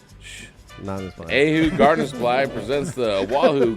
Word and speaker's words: Oahu: yes sir will a wahoo oh oh is that am i saying it right oahu it's pronounced a who shh ahu gardner squad presents the